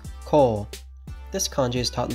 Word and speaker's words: 校: history of these kanji today's kanji is school pronounced kol this kanji is taught in the first grade